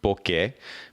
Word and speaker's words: Bokeh: it's be okay eh book a podcast calm and by the way for all those who you're like oak that's now how you pronounce it it is originally actually a Japanese word bouquet but if I were